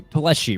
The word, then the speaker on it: Plesi: our second place finisher, Andrew Plesi, right? Is that how you pronounce it? cuz I feel like I butchered it all night long and you got it right.